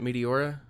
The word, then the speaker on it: Meteora: don't work hold on is that how you pronounce it Meteora yeah hey I got it right first try